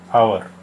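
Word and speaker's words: hour: और before silent H, यानी जहाँ एच साइलेंट होता है उससे पहले भी एन का यूज़ किया जाता है। For example, an honest man, एन आवर। इन दोनों ही वर्ड्स में एच जो है वो साइलेंट है, इसलिए एन आर्टिकल लगा।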